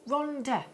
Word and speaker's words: Rhondda: Rhondda, Cenotaph. It's double D. If it's a double D, you pronounce it TH.